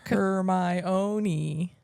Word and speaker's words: Hermione: So Hermione teaching Victor Crumb how to say her name is the author teaching everybody reading how to say the name in the fourth book. Hermione.